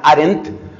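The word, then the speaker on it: Arendt: h hann con Dn hann arent acaba con dt y ella y el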